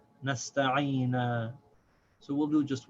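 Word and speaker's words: نَسْتَعِينُ: So this is pronounced nasta'ina, nasta'ina.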